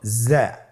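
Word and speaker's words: ظاء: উচ্চারণ করার সময় অবশ্যই এক আলিফ টেনে পড়তে হবে। এক আলিফ টেনে পড়তে হবে। হরফটি বারিক হরফ। এজন্য পাতলা করে উচ্চারণ করতে হবে। হরফটির মাখরাজ। আপনারা দেখতে পাচ্ছেন জিহ্বার আগা সামনের নিচের দুই দাঁতের পেট ও আগার সঙ্গে লাগিয়ে উচ্চারিত হয়।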